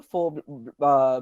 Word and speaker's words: faux: So now the bash plate over here on the front is actually called as a faux bash plate, or it's spelled as FAUX, which means a false bash plate.